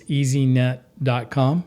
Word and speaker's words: Easeenet: But it is spelled a little funny because we make your online life easy to see. That's how you can remember it.